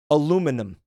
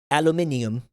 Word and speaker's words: aluminum: I wonder aluminum aluminum. It's I feel like we just got rid of a a superfluous syllable in that word. Like we just didn't need it, so we just yanked it out of there.